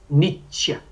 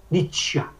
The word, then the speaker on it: nitya: no sul do Brasil, a pessoa tem o hábito de pronunciar palavras dentais como se fossem cerebrais, fala Nitya, Nitya.